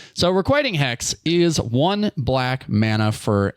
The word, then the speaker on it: Requiting Hex: Requitting. Requiting. You've never pronounced it the same way twice. I I have notitting Never have you requiting hex. You can't do it. It's requiting hex.